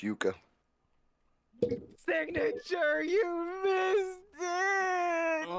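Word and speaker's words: yuca: It's pronounced Yuka.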